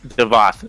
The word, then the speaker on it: Davoth: Is it Davoth or Devoth? How do you say that? Devoth.